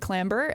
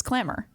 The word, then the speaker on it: clamber: group um I said clamber and Scott was like Liz you know you don't pronounce the b he's like it's clamor and I was like no it's clamber and then well here's